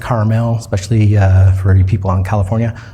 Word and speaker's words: Carmel: I live in Carmel, Indiana. Um I know most of the other places around the country it's pronounced Carmel, especially uh for you people in California, but in Indiana we say Carmel.